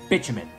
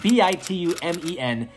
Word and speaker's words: bitumen: Well, I learned how to pronounce the word bitumen. That's right, B-I-T-U-M-E-N.